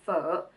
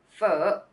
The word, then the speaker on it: Phở: make for this vowel it's just like the earth sound in English as in her other word or fur now let's get the